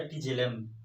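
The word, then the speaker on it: tigellum: क्या कहते हैं, टाइजेलम या टिजेलम, ऐसा आप प्रोनाउंसिएशन कर सकते हैं, ठीक है।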